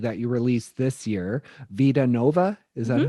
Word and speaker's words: Vida Nova: And you have the new EP that you released this year, Vida Nova.